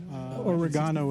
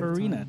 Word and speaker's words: Ocarina: I never knew how you say it. Oregano of Time. Organa? It's an O. Ocarina? There you go. That sounds kind of like it. Ocarina. It's Ocarina of Time.